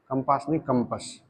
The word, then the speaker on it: कंपस: करता है, तो जो कंपास होता है, कंपस, कंपास नहीं कंपस, है ना। अपनी प्रोनाउंसिएशन को भी सुधारते चलो।